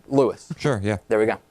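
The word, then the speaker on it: Louis: Lewis we're not Americanizing Lewis's name as if it were L-U-I-S from the Spanish origin. It's L-O-U-I-S. It's just pronounced Lewis. So no need to do the Spanish pronunciation. It's just Lewis.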